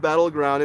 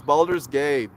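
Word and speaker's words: Baldur's Gate: saying it wrong like no Dad it's not Battleground it's balder's gate come on dad Simon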